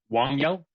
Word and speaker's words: Wangyal: I might be saying it wrong because I don't speak Tibetan, but it's Wangyal. It's Wangyal.